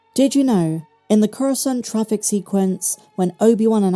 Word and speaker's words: Coruscant: In one scene, Count Dooku mispronounces the word Coruscant, and instead, he says Coruscanti. I think he went Italian for that one.